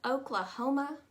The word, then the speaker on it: Oklahoma: how to pronounce it both those a's take on a u sound and that's all you really need to know underneath that is